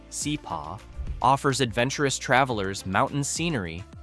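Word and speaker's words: Hsipaw: Hidden in Myanmar's northern Shan state, the former princely kingdom of Chapa, pronounced Seep, offers adventurous travelers mountain scenery, authentic tribal villages, and fascinating colonial history without the crowds of Inley Lake or Bean.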